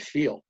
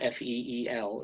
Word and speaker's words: Feal: she goes what's your last name i said feel she goes feel good foundation like that and